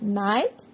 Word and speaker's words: knight: Next homophones, night, night, K-N-I-G-H-T, night, N-I-G-H-T, night. K is silent here in night, K-N-I-G-H-T. So, K is silent.